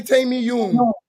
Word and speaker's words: Taymiyun: We in Arabic, we say Taymiyun.